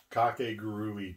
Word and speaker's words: Kakegurui: It's Kakegurui Twin.